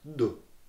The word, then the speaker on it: du: You say it like more softly. It's du.